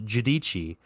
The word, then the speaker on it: Giudici: In the second period, it was Noah Giudici, me and Tristan figured out how to say his last name is Giudici.